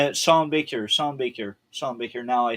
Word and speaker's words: Sean Baker: Sheen Shawn Baker. Shawn Baker. Shawn Baker.